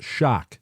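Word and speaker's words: xoc: But what Andrew is saying is that the theory that it was derived from the Yucatan, which was a Mayan word, pronounced shock.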